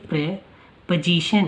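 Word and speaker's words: preposition: ये यहाँ पे प्री की जगह प्रे साउंड देता है, एंड यहाँ पे ओ की साउंड नहीं आती, तो ये प्रे पोजीशन है, पोजीशन, प्रेपोजिशन, प्रेपोजिशन।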